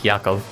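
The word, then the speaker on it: יעקב: go for Jacob cuz apparently the way you pronounce his name in Hebrew is yako you may be a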